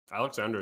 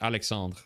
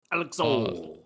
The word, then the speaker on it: Alexandre: Wait, Alexander is kind of an aura name. It's Alexandre. It's Alexandre. That's pronounced. Alexandre.